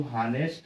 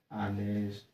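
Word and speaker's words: honest: ध्यान देते हैं हम, ये जो हानेस्ट है इसे हम आनेस्ट पढ़ते हैं, क्या पढ़ते हैं, आनेस्ट।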